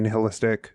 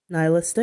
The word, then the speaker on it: nihilistic: And it's a very neihilistic. Is it neither? Nihilistic. How do you pronounce that?